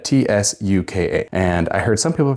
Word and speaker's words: tsuka: believe it is pronounced tsuka, T-S-U-K-A. And I heard some people pronounce it ska, but since the spelling is very similar to the tsuba, I imagine that it's pronounced slightly the same way.